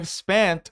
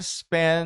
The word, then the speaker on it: spent: lá então I spent Olha só como ele vai pronunciar spent esse T ele meio que suaviza ou simplesmente não pronuncia porque ele quer fazer o seguinte ele quer facilitar isso conectar a letra N com o a i